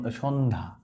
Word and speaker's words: সন্ধ্যা: এখানে দেখতে পাচ্ছ যে সন্ধ্যা দেখো জ ফলার উচ্চারণ নাই বন্ধা জফলার উচ্চারণ নাই